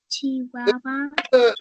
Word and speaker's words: Chihuahua: Chihuahua.